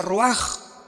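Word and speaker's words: רוּחַ: Se pronuncia roaj. Por ejemplo, cuando hablamos del Espíritu Santo, el Espíritu Santo es roaj, el kados.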